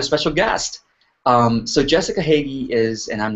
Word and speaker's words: Hagy: i've got a special guest um so jessica hagee is and i'm not even sure i'm pronouncing your name right jessica yeah you're good